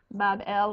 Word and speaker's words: Babylon: shrine or temple in Babylon, pronounced Bab-El, which simply means gateway of the god, the gate of the god.